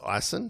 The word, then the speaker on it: Ison: Liam Ison, it's pronounced Ison. We got the official word. A few of us have been in between, like myself, but it's Ison, so we've got to remember that.